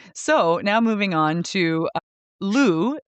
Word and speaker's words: Lugh: So, now moving on to, Lu, it's pronounced, spelled Lugh, but pronounced Lu, known as oh, no, I didn't look up the second word.